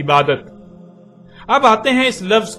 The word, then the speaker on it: عبادت: عربی کا لفظ عبادہ جب اردو میں شامل ہوا تو اسے عربی کی بجائے اردو لہجے میں تے کے ساتھ بولا گیا اور بولا جاتا ہے، یعنی عبادت.